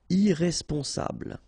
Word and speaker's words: irresponsable: Don't pronounce the final E. Bl, bl will be the last sound. Sable. Irresponsable.